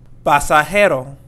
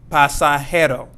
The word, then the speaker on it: pasajero: Pasajero. Pasajero means passenger. Pasajero. And not pasajero.